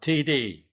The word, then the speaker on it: Tiede: I'm Tiede. Last name is pronounced like the two initials, TD or touchdown.